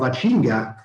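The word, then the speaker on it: ACIMGA: I'm the general manager of Achinga. That's the correct way to pronounce it.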